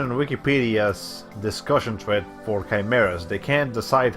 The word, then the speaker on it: chimera: I always think that that word is pronounced like that section of the word is pronounced kai, not chai. Like even in Spanish, yeah. The Spanish word for chimera is quimera, so we don't pronounce it chimera or anything. So yeah, I don't think the chai part is really accurate.